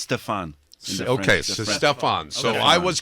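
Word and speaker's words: Stéphane: is yeah so I've heard it pronounced both ways is it Stefan or stepan well people kids call me step on my toe so step and but people also call me Stephanie because of the e at the end so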